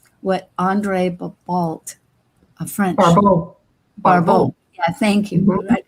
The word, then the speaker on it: Barbault: entire astrological community, what André Barbault, a French Barbault. Yeah, thank you for that pronunciation.